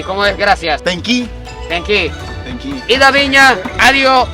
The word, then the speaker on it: tenki: tenki.